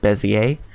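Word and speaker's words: Bézier: go to bezzie a I call it Bezier just because it looks like what it sounds but correct prints pronunciation is Messier and I'm gonna go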